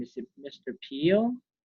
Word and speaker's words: Peele: Peele? Correct. Mr. Peele.